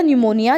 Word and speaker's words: pneumonia: Spelling थोड़ी सी different है, pronunciation अलग होती है. PNEUMONIA. तो जॉन्सी को हो गया था न्यूमोनिया, जिसको हम हिंदी में निमोनिया कहते हैं.